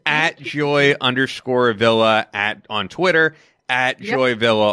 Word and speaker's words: Joy Villa: Italian, but we pronounce it the Italian way, so a lot of people can Joy Villa.